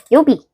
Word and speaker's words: 曜日: 요비라고 읽습니다.